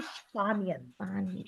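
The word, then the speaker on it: Spanien: the country Spain yeah in English we say Spain in German for the same country we say spanian spanian yeah so guys now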